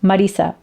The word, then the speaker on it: Marisa: It's pronounced Marisa, but in the States, I just say Marisa. And though my husband has asked me why I don't pronounce it in German, Marisa, I don't like it, so I don't. I'll just say Marisa if I'm going to not pronounce it the correct way.